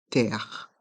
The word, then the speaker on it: terre: suspens pomme et dans le mot terre les deux r restent en suspens terre pomme terre des pommes